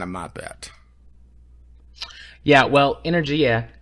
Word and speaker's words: energia: Yeah, well, Energia is, and that is how you pronounce it, is Italian. It's the Italian word for energy.